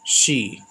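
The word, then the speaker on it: she: शी देखिए एस एच ई शी पढ़ते हैं। एक होता है सी सा में बड़ी की ये सी नहीं बोलेंगे इसको बोलेंगे शी।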